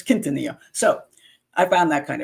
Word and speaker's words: Quintanilla: But her last name is Quintanilla, which is pronounced the Spanish way, because it's got QU in the beginning, and they don't pronounce the U as QU as Q in Mexico. So here we would say Quintanilla, but it's Quintanilla.